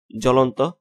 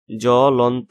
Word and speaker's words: জ্বলন্ত: তো পদের আদিতে অবস্থিত ব্যঞ্জন বর্ণের বফলা যুক্ত হলো বফলার কোনো উচ্চারণ হয় না, যেমন জ্বলন্ত, জলন্ত, জ লৌকাল্য, ন তৌকাত্ত।